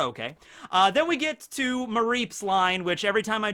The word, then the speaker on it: Mareep: It's a sheep, Mareep, and then Flaffy.